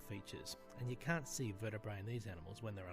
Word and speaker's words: vertebrae: If you have more than one vertebra, you pronounce them vertebrae.